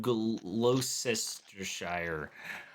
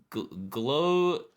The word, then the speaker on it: Gloucestershire: They're making him a sergeant, but out in the country in Sanford, Gloucestershire. And What an he's- ugly language they We speak. can pronounce this. Yeah. Gloucestershire. I don't. It's like Worcestershire.